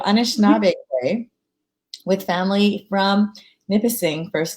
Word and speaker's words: Anishinaabe: and meyer is an anishna like putting the like stress on the wrong syllable so anishinaabe with family from nipissing